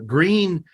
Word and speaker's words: Gruene: Green, it's not spelled Gree, it's spelled Gruene. Green Hall.